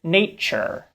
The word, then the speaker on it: nature: But in many words like nature, the T in tu is often not pronounced with a true t sound, but rather with a ch sound.